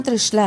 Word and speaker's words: त्रिशला: नाम परिवर्तित हो जाएगा तो मेरा नाम क्या हो जाएगा त्रिशाला त्रि श ला त्रिशला नहीं चेंज हो गया उसका उच्चारण ही बदल गया नाम का अर्थ ही